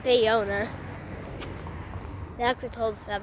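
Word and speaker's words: Ballona: Ariana Wetlands or La Bellona but they pronounced it bayona they actually told us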